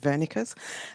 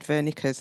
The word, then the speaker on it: Wernicke: Listening to Zeff's talk about Wernicke's, I was born in Germany, so I'll pronounce it Wernicke's.